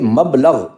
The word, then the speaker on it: مبلغ: ساتھ ادا کیجیے گا۔ یہ ہے مبلغ، میم کی زبر کے ساتھ ہے، یہ ہے مصدر میمی۔